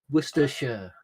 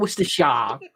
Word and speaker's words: Worcestershire: speak proper English you can't even pronounce worcestershire without having a fit Worcestershire Worcestershire no not Mr Sharp Worcestershire Worcestershire okay 45